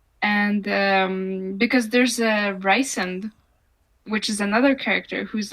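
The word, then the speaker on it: Rhysand: the thing is I know that his official pronunciation of the name is recent that's barely better it's even wor worse like in and she calls him Reese sometimes which is annoying because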